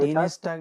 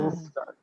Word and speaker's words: Dienstag: হ্যাঁ, Dienstag, এসটাকে Dienstag, একবারে উচ্চারণ করবেন। হ্যাঁ, প্রনাউন্সিয়েশনটা একবারে নিয়ে আসবেন। ডিনস্টাগ, ডিনস্টাগ। হ্যাঁ, মানে টাকটা একটু পরে বলবেন, আগে এসটাকে নিয়ে আসবেন।